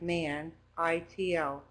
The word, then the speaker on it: Manito: M-A-N, like man, I-T-O, Manito, filmed in 2003.